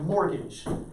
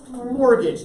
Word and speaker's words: mortgage: that's called the the mortgage payment okay it's called mort gauge but we don't usually pronounce the t very strongly mortgage say that with me class mortgage that's the payment that